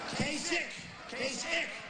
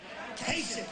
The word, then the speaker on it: Kasich: In fact, most people don't even know how to pronounce his name. Kasich. Pretend it's a K. Kasich.